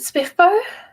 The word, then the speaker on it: SPFBO: subsequent books um yeah i pronounce it spiffbo sorry good good glad